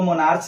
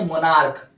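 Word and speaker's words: monarch: मोनार्क, इसको मोनार्च नहीं पढ़ेंगे, क्या पढ़ेंगे? मोनार्क। उच्चारण क्या है? क।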